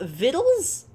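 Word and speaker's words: victuals: when I always thought viddles cuz I've heard the word viddles but I always thought it was spelled like it sounds I'm sorry what I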